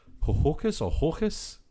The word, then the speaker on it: Ho-Ho-Kus: I did click on the Wikipedia for it to try and figure out how it's pronounced, but I think it's literally Hohokus, like Hoboken. Okay.